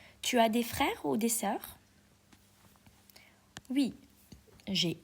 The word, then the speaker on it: frères: J'ai deux frères et une sœur. So j'ai I have deux frères. Deux is number two, okay? In French, we do not pronounce the s at the end of the word, so you don't say